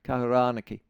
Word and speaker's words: Kahurānaki: Um, Kahuranaki. Have I got that's is that right pronunciation? Kahuranaki. Yep. Kahurani. Sorry. So, it's a it's a long a Kahurani.